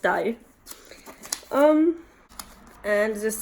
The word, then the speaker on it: dig: Yeah, and it's pronounced die.